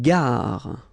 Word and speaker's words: gare: Une gare. Okay, remember when you get these G and A together, the sound is g, ga, ga.